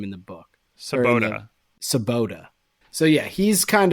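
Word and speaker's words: Svoboda: do they say his name in the book sabota sabota so yeah he's kind of Jazz's he's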